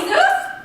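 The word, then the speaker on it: Jesús: Sydney it's minolo and jeso and Jesus you don't pronounce a j where is there a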